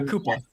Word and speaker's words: Cooper: Roy Koopa is how his family apparently pronounced it.